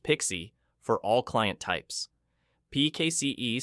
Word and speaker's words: PKCE: Second, it mandates PKCE pronounced Pixie for all client types.